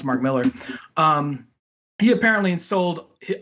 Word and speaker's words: Mark Millar: or Mark Millar I think so you sing Mark Millar but apparently it's pronounced Mark Millar he apparently in sold it all his IP